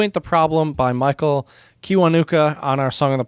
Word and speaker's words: Kiwanuka: the problem by michael kiwanuka on our song on the pod playlist uh and no i said his name wrong i said kiwanaka sorry no worries i